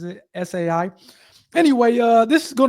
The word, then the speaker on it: ESAI: I guess the E is silent. I think she pronounces it SAI.